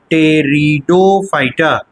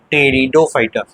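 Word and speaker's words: Pteridophyta: दूसरा कहलाता है ब्रायोफाइटा और तीसरा कहलाता है टेरिडोफाइटा जिसमें कि पी साइलेंट रहता है। टेरिडोफाइटा टी से पढ़ेंगे।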